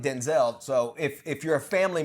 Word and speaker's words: Denzel: The correct pronunciation of his name is Denzel. Did you know that? No. So his mom called him Denzel.